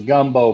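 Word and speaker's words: Gumbeaux: running around here too his name is gumbo but it's spelled g G they're from Louisiana guu m b a ux oh yeah that's cool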